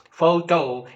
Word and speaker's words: photo: h o t o photo it has two syllables but the first syllable f is stressed while speaking and that's why you speak it as photo right you cannot say